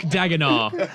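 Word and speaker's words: Daigneault: Well, do you know how to pronounce it? Nope. Because Mark. Mark Dagenau.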